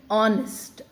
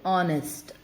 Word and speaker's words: honest: And children, remember, I read this word as honest. Though H is there, H is silent here, and you say honest.